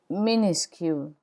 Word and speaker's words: minuscule: The final S is not pronounced in minuscule.